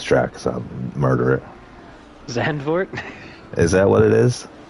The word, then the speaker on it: Zandvoort: xand for it's got It's got two o's though there should be an oo right it should be an ooh sound I mean if you were to pronounce it in native tongue they probably roll that o a little bit more but xanor is the you know well adopted well understood name I see it and